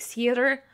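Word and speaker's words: seiðr: So I've heard it pronounced as like seed magic, or people leaning harder into the R like seeder. I'm just gonna say like seed because my pronunciation's just gonna get worse as time goes on.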